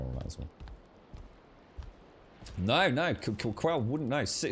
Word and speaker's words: Quell: But yeah, that is Quell. The alternative would be to spell it, if you wanted it like that, would be Q-U-E-L-L as Quell.